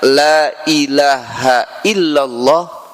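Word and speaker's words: لا إله إلا الله: kembali lagi sesungguhnya Ketika seseorang membaca Lailahaillallah wamaddaha kemudian memanjangkannya lailaha illallah Pak bareng-bareng Lailahaillallah nah seperti itu bacanya Ya kata nabi siapa orang yang membaca Lailahaillallah wamaddaha kemudian memanjangkan bacaannya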